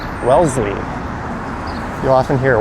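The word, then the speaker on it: Wellesley: That is Welssley station. It's subtle, but you don't pronounce the S. You pronounce it as more of a zed or Z.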